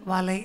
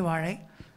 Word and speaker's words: வாழை: ஏழைக்கும் வாழைக்கும்னு பாடிட்டீங்க அதான் லாவும் இல்லாமல் லாவும் இல்லாமல லா ஏழை வாழை அப்படின்னு ஏழை வாழை அதனால தமிழுக்கு முக்கியத்துவம் கொடுத்தீங்க